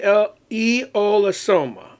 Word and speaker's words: Aeolosoma: And uh e eolosoma, that's how you pronounce that. Eolosoma.